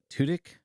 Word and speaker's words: Tudyk: It's Alan Tudyk, I think is how you say his name. Tunic. Tudyk. Like Two dicks.